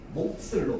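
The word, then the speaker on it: 몫을: 시옷이 연음될 때는 연음이 되면 뭐가 되냐면 된소리로 발음됩니다. 목슬로 발음돼요. 목슬.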